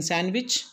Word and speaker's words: sandwich: is really handsome next sandwich many people will pronounce the word sandwich sandwich there is no sand in sandwich okay and b is absolutely silent so sandwich